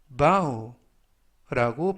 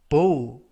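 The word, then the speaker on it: bow: 표현이 되겠습니다 이번 표현은 우 우 바우라고 발음하시면 되겠고요 이때 조심하실 점은 만약에 발음을 보 보라고 발음하시면 활 우리가 쏘는 활이라는 뜻이 됩니다 바우 품사는 동사 뜻은 머리나 허리를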